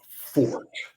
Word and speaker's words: Forte: The correct pronunciation of number 4 is fort, meaning somebody's strength.